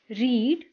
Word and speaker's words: read: रीड रीड म्हणजे वाचणे रीड रेड रेड इथे दुसऱ्या व तिसऱ्या रूपाची स्पेलिंग जरी सारखी दिसत असली तरीही याला रेड असं वाचायचं दुसऱ्या आणि तिसऱ्या रूपाला